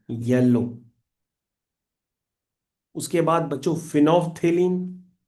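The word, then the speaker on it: phenolphthalein: Phenol पहले लिखो फिर पीए साइलेंट कर दो। फिर थेलीन लिख दो। Phenol P एच ई एन ओ एल पी A silent थे टी एच ए थे एल ई आई N lean फिनोफ्थेलीन colourless to pink ये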